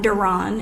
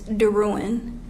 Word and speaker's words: Darin: pronounced my name wrong my last name is not donon it's Darin she spelled it wrong